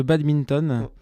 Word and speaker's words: badminton: va donc parler de badminton. Voilà, faut bien prononcer, hein, badminton, c'est ça? Voilà, c'est ça, il y a un D au milieu. Voilà. Il faut pas l'oublier.